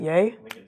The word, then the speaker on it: Ye: ly known as Kanye West how do you pronounce is it yay is it yay okay it's like Kanye yeah